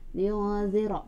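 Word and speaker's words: لينذر: Liyudzira, ra-nya tebalkan ya. Liyudzira, tebal pembacanya.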